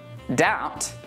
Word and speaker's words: doubt: Det, doubt, and subtle. Now that you know that we don't pronounce the B in these words, try reading this sentence out loud.